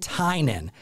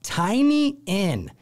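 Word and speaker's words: Tynion: the local gothamites pronounce it tynan but out of towners say tiny in and the gothamites give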